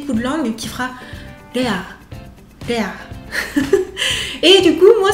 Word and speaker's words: Léa: Juste que ce sera pas forcément un L pur. Parce que comme je vous disais, la lilulelo, le R japonais, c'est un peu en proximité avec le D.